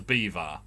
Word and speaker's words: Belvoir: pronounced catherine street when you've got belvoir as beaver why are you sensitive